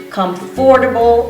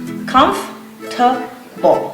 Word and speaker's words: comfortable: They always say comfortable or comfortable, but the correct pronunciation is comfortable. So the O-R, it's not pronounced. After the F, that O and that R, they are silent.